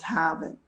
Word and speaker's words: Harvard: of all one from harvard health i don't know if you can see that i grew up in boston so i'm still very impressed with harvard which we pronounce haven't yeah i have a